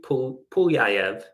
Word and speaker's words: Pulyaev: I did look at the Cyrillic typing to make sure that I was pronouncing that right. I read a little bit of Russian, so that is the correct pronunciation.